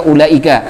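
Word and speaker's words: أولئك: muttasil, seperti kita membaca ulaika. Ulaika ala hudan min rabbihim wa ulaika humul muflihun. Itu mad wajib muttasil ulaikanya. Dibacanya 6 harakat.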